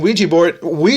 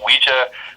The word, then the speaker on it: Ouija: Bob Murch, with me, the leading expert, on Ouija Board, I don't know.